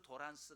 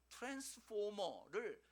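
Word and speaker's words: transformer: 그래서 우리가 한국에서 있을 때 도란스 그랬죠. 도란스. 원래는 일본 사람들이 트랜스포머를 발음을 제대로 안 돼가지고 도란스라고 했어요.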